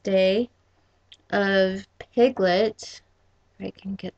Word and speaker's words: Te: a second book called it looks like it says tay but it's pronounced day of piglet i can